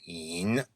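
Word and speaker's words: 隱: So the next character in Chinese is yin. You would spell that in pinyin, Y-I-N, and it's the third tone, which is the low tone, so yin.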